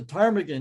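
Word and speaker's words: ptarmigan: what sound does a tarmacan make when when it p takes a p and we all couldn't think of it and so they said nothing the p is silent so we were pretty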